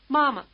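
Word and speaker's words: 妈: English the high tone May strike you as sung rather than spoken try repeating Mother after the speaker taking care to stay on the same high note throughout ma ma ma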